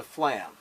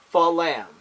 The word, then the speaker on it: flam: Now, it's important that you don't do this. That's not a flam. Fa-lam. That's wrong. Fa-lam. That word is not pronounced like that. You say flam.